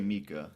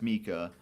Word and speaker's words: Miikka: Just say Mika, because I Mika. think it's Mika Marinin. Okay. So his first name's Miikka, and that's Mika, and then you have Marinin as in Muurinen.